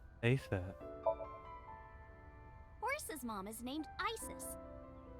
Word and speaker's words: Isis: Horse's mom is named Isis. But in ancient Egyptian, it's pronounced closer to Iset or Aset.